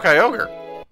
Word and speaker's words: Kyogre: first came out who had a pronunciation for Kyogre that was just wrong in English at least what was it it was Kori oh he still too rough but I have Kyogre it's just a m